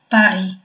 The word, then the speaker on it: Paris: Какое правило чтения мы здесь, кроме того, что в слове «Paris» «s» на конце слова произноситься не будет, здесь еще есть правило чтения, как буква сочетания «ü» дает нам звук «э».